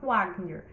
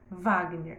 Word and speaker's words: Wagner: Wagner, eu já vi Wagner registrado tanto com V como com W. Mas na hora de pronunciar, você não vai falar Wagner, você vai falar Wagner.